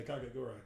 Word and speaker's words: Kakegurui: Kakegurui. You I was about to say, Yu-Gi-Oh! to it. Why not? would you consider that anime? Cat or did I pronounce it right? You say Kakegurui? Yeah, Kakegurui.